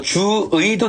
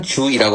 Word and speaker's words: 주의: 두 개 오면 의 발음이 나야 돼요. 근데 두가 아니면 어떻게 허용해요? 이로 발음되는 걸 허용합니다. 그래서 주의도 되지만 주이라고 할 수 있죠.